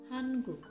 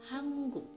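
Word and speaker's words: 한국: Untuk contoh yang kedua adalah hanguk. Sebenarnya hanguk, tapi yang benar itu pengucapannya hangguk.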